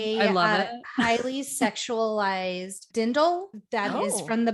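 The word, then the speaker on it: Dirndl: Whoa, Okay, a I am dindle? obsessed. Yes, there is obsessed an with R this in the outfit. word, but I'm pretty sure the R is silent, so it's a dindle.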